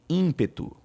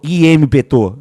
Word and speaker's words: ímpeto: Vamos pegar a palavra ímpeto. Ó, a palavra ímpeto, tá vendo aqui, ó? O M, eu não falo ímpeto. Não. É in, um fonema, um som só. In.